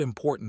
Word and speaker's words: important: For example, the word important is usually stressed on the second syllable.